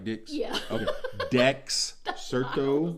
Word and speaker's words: Dexerto: Dexerto, maybe, not Dixerto. No, I said Dex. Did it sound like Dix? Yeah. Okay. Dexerto.